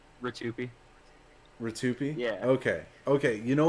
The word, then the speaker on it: Rtyuiope: did mm-hmm how do you say your name Ritu p2p yeah okay okay you know what I had